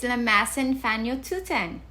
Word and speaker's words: lamasan fañochuyan: Dining table is lamasan fanyotuten. Lamasan fanyotuten. Remember, our last lesson we used fanyotuten, which is dining room. Lamasa means table. Let's add both words together to say dining table. Lamasan fanyotuten.